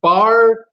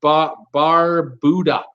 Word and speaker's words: Barbuda: He says it's Barbuida, Barbuida, not Barbuda.